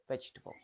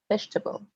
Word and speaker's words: vegetable: the r temperature temperature in vegetable the second e can disappear yes vegetable vegetable vegetable chocolate in chocolate